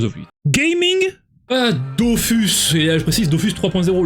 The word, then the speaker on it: Dofus: let's go Dofus et je prononcera toujours Dofus et pas Dofus parce que je suis un rebelle et un punk gaming alors lui bon on a